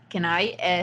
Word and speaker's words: Kenai: start just full disclaimer in Spanish kina is actually pronounced can I so if at one